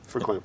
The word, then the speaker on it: Verklempt: Verklempt.